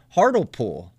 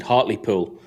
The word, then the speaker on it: Hartlepool: does he know uh harder pool do you know heartipul yeah so hot i would pronounce it hartley pool um hotly pool is about about 20